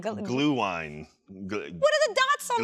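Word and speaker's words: Glühwein: Glue wine, says Hodgelet in the chat. Glue wine. I'm sorry I butchered that. Thank you for educating me on how to pronounce that correctly.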